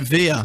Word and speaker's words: Villa: last name Villa oh Spanish I suppose you're pronounce it via VIA don't you Aston via Aston via